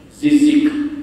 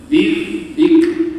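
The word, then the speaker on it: ذكر: Zal ujung lidah. Sebab apa saya sebut ni, tuan-tuan? Sebab ramai yang baca, dia bacanya mana? Wal Qur'ani dzikr, macam huruf zai, dzikr. Sebenarnya di ujung lidah, dzikr, yang mempunyai, dan Al-Quran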